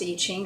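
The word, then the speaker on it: I Ching: And within the I-Ching, there are 64 hexagrams.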